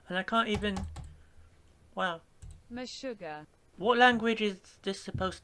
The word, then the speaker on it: Meshuggah: Last band, Meshuggah. I bet that's pronounced exactly how it sounds. Meshuggah. Sounds like another way of saying my sugar, but from Yorkshire. In the UK.